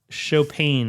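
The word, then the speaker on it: Chaupain: Chop Bakery.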